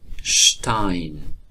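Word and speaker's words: Stein: شت مخصوصا در آغاز جمله. مثلا شتاین شتاین شتاین سنگ.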